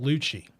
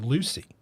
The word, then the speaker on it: Lucci: up would pronounce it Lucy and I always be like whoa whoa whoa okay double C in Italian yeah yeah like it's